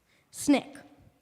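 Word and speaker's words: SNCC: Snick.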